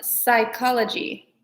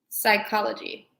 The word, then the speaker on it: psychology: This is called psychology. Psychology. And it's spelled interesting, but it's pronounced psychology.